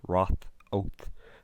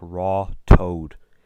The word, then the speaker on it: Ratoath: In 1836, a native of Ratoath, Nicholas Walsh, stated that in English the village is pronounced Roth-Oath, but the natives pronounce it like Raw Toad.